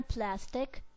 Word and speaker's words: plastic: have to stress the word plus in a plastic to in pronunciation we have to say with emphasis plastic